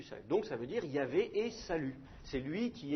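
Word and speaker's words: Yahvé: dans des noms propres nous par convention on prononce Yav quelque chose comme ça mais c'est c'est une convention c'est peut-être la prononciation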